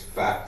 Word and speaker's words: Pfaff: My special assistant learned German in Frankfurt, and she said it's Pfaff with a silent P.